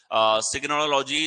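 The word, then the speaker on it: tsiganology: सिग्नोलॉजी जिप्सियों का अध्ययन जो है यानी कि जिप्सीज का अध्ययन हमारे पास में जो होगा वो सिग्नोलॉजी एक तरीके से हमारे पास में हो जाएगा। टी साइलेंट है यहां पे, ठीक है।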